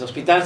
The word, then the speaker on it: hospital: de nuestra ciudad los hospital sin h y no se dice hospital es hospital es correcto encantado estar contigo marco